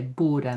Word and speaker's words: bord: neuter nouns Buddha and we still don't say that D we say Buddha now.